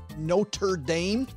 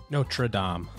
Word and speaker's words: Notre Dame: South Bend, Indiana called Notre Dame. Notre Dame. That's how they say it. No, that's the one in Paris. It's French. The one in Paris is Notre Dame. This is Notre Dame.